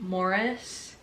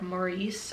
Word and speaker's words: Morris: Also, I know people pronounce it differently, but in the film, they do pronounce it Morris instead of like Maurice or anything like that.